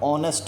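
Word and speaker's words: honest: तो before silent words अब ऑनेस्ट है। ऑनेस्ट में इस साइलेंट होता है, ऑनरेबल पर्सन में भी जो है ना इस साइलेंट होता है, तो एन का इस्तेमाल करेंगे।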